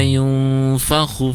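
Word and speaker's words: يُنْفَخُ: Hati-hati panjang pendeknya. Yauma yunfakhu fi, khunya tidak panjang tapi pendek. Yauma yunfakhu fis su, fis itu alir dulu baru su ya.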